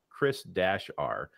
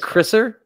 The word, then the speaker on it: Chris-R: Wait, so it's like Chriser? It's Chris -R. But why? What's the dash there for? That implies that R is separation. Okay. You got to pronounce it. You can't change it. It's not an abbreviation. Because if it'd be like Chris.R, it's like it's dash. It's part of his name. So Chris-R.